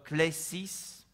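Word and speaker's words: κλῆσις: Ça vient du mot grec qui, on prononce klesis, qui signifie une invitation ou un appel.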